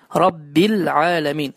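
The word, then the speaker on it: رب العالمين: Rabbil alemin, Rabbil alemin. Yani her hansı bir mesafe, her hansı bir gözletim olmamalıdır. Derhal lem harfinden sonra ayn harfi telaffuz olunmalıdır. Düzgün okunuş. Rabbil alemin, saf okunuş.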